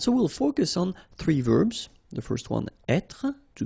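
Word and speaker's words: vert: remember J rou so masculine form you don't pronounce the final T ver feminine form ver so listen carefully I don't say t but it's okay so as usual this final only gives you the possibility to pronounce this T ver okay Mar same thing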